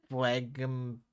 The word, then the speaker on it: phlegm: And let's face it, I was really being the worst kind of phlegm, bubble blown. Phlegm. Phlegm? Phlegm? Phlegm. Phlegm? Yeah, But the G. The G is silent, hon.